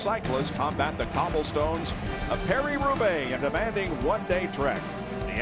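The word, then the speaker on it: Paris–Roubaix: the world's best cyclist combat the cobblestones a Perry rube in demanding one-day Trek the Epic continues tonight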